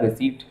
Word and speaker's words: receipt: रिसीट and payment, इसके अंदर बेटा पी साइलेंट रहता है, रिसीट ठीक है ना नॉर्मली,